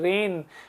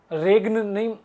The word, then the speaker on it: reign: Rule या शासन, REIGN, रेन, जी silent है, ध्यान से देखिएगा, जी को नहीं बोलना है, रेग्न नहीं बोलिएगा, रेन, रिजीम, रूल, शासन, गवर्नमेंट, सिस्टम।